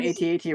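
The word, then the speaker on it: AT-AT: that but actually the it's supposed to be at at yeah I've heard everybody pronounces it at at right yeah it's at at it's an ad this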